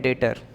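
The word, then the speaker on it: debtor: customer को बोलते हैं डेटर क्या बोलते हैं एडेप्टर लिखा है बी साइलेंट हटा दीजिए डेटर कैसे प्रोनंसिएशन होगा इसका डेटर ठीक है तो डेटर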